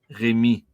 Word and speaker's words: Rémi: You don't pronounce the last letter because I in French is E. Rémi. In French, my name would be Rémi. You say Rémi, but obviously the I is for E.